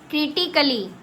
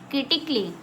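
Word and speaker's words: critically: क्रिटिकली क्रिटिकली कली नहीं क्रिटिकली। Clear?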